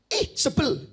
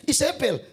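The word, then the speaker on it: Izebel: Sebel gitu. Ya, cara bacanya saudara dalam bahasa Ibrani bukan Isabel, tapi sebel gitu ya.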